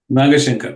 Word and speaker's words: Nagashankar: So Madhu sir, am I pronouncing his name right? Nagashankar, correct.